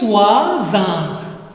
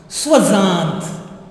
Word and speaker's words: soixante: And this is, try to pronounce this one. I have already given you a clue how to pronounce OI. What is that? Wa. You remember? Wa. So this becomes Swazant. Swazant.